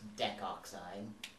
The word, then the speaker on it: decoxide: Or to facilitate pronunciation, it's just decoxide. Oh, that's right, because sometimes we drop the vowel in there.